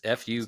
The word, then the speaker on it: Fuqua: Because it's Fuqua. His last name. You say it.